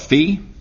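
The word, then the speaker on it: phi: Fe notice pronounce v you're going to want to call it fi but uh more common is call it Fe Fe is this angle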